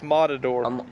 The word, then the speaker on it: Modador: John Hawks, Modador, not Unimod. It's Modador. You got to spell it with A. A-D. Modador.